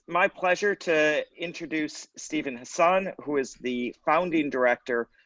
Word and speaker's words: Hassan: this prestigious conference and i just want to correct my last name is pronounced hassan and i am actually